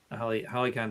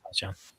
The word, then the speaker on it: Halcyon: So, Hollycon Drift. All right. Am I saying it right? I think it's Halcyon.